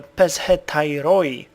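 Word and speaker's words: Pezhetairoi: and found out that the Peshetai, that's actually how you're supposed to pronounce it.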